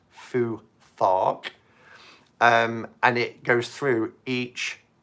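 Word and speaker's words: Futhark: it's f you th a RK but it's pronounced Fuu thought and it goes through each ruin alphabet letter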